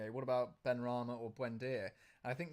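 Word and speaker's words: Benrahma: How do you pronounce it? Which one? For Ben Rama. Ben Rama. Definitely Ben Rama, 100%.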